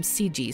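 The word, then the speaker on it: Segee: By the way, my guess at the pronunciation of his name would be Seegee, but in the interview, one of the officers called him Seegee, so I will continue with that.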